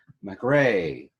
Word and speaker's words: Mari: MahRee, right? Did I say it right? Yes.